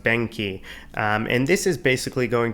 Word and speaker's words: BENQI: probably going to use is i believe pronounced benky and this is basically